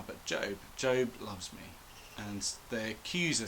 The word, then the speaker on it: Job: Today we're looking at the book of Job, or as I always assumed as a child, it must be pronounced Job because that's how it's spelt.